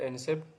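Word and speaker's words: receipt: इसके बाद silent letter रिसेप्ट। तो इसमें रिसेप्ट में जो साइलेंट लेटर है वो पी है।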